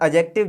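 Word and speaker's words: adjective: इसे एडजेक्टिव नहीं पढ़ते दोस्तों, इसे पढ़ते हैं एडजेक्टिव, क्योंकि ए और जे के बीच में आया हुआ डी हमेशा साइलेंट रहता है दोस्तों।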